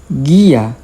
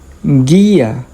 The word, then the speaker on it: guía: And the G, U, I combination, as in guía, guía. When you have these combinations, the U doesn't make a sound.